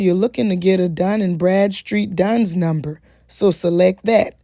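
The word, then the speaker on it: Dun & Bradstreet: so just calm down i said it wrong it's actually done and brad street and you'll just go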